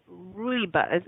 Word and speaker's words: rooibos: What exactly is red rooibos?